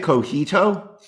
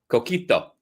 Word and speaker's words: Coquito: need to get some Coquito this year as well. Are you pronouncing it Cojito? Coquito. It's what they drink in Barcelona.